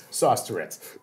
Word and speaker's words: Sauce Tourette: to clear the record it's sauce like spaghetti and Tourette's like the syndrome sauce Tourette's thank you thank you